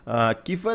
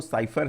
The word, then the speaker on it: cipher: ठीक है, बेसिकली इसका जो प्रोनाउंसिएशन है वो साइफर है। ठीक है, CIPHER, लेकिन कहीं कहीं पर मैंने देखा किफर भी लिखा हुआ है। ठीक है, मतलब ऐसे किफर प्रोनाउंशिएट करते हैं, लेकिन एक्चुअल में जो गूगल ट्रांसलेट पे मैंने देखा इसका प्रोनाउंसिएशन जो है वो है साइफर।